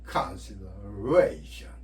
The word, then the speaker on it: consideration: 그래서 두 단어처럼 발음을 하되 ation에 A 이중모음이죠. A에만 의미공명이 일어나겠죠. A 중에. 그 다음에 거기에 제일 강세가 들어가니까 좀 더 세게 consider는 con에 강세가 있는데 이 강세니까 좀 더 약하게 consideration.